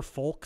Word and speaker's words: folk: That poor folk singer? You can tell he's a poor folk singer because he keeps pronouncing folk with an incredibly pronounced L.